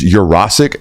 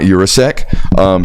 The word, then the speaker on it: Urasic: It is Urasic, not Urasek.